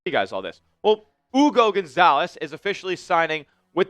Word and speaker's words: Hugo: He's out there playing a EuroLeague schedule, but Hugo, and it is Hugo, by the way. The H is silent over there in Spain, so that's going to be his, what he's going to be called here.